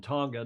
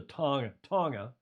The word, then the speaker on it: Tonga: He's saying, please, it's a soft G in Tonga, not a hard. It's a Tonga, right? Tonga.